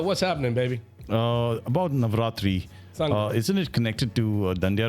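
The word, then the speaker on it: Navratri: Basically for Navatri.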